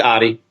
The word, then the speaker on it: Otte: do you pronounce an or Adi how do you pronounce your last name it's Adi Adi I am the worst